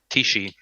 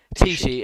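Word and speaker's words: Teachtaí: How do you pronounce it? Tishi. Tishi.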